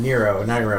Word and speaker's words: Nyro: Nyro. I never know how to pronounce it.